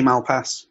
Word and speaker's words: Malpass: I say Malpass, but yeah.